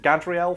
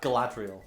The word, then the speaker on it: Galadriel: And that's what isn't it Gadriel from, or how do you pronounce that? Galadriel.